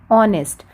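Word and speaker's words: honest: हैं ऑनेस्ट ठीक है ऑनेस्ट तो यह एच साइलेंट है जब हम इस वर्ड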